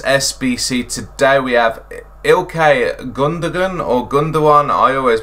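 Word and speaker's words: Gündoğan: today we have ilkay gundagon or gundam one i always pronounce that i've always used to pronounce his gondola but apparently the g isn't silent so yeah um celebrating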